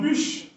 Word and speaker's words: PUSH: PSH, si vous voulez, vous êtes capable de prononcer le comme push. Vous êtes capable de ballon en prononciation anglo-saxonne, par exemple push, qui signifie pousser en anglais.